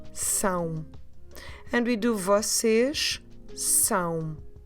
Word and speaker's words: São: In Portuguese, S, A com tilde, O. São.